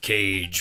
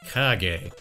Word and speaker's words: Kage: taking a look back at the legend of cage for the nintendo entertainment system actually it's pronounced legend of kage this is a port of an arcade game that was released by tato in 1985.